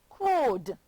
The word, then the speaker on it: crowed: This word says crowed. Yes, boys and girls, it has the d sound at the end.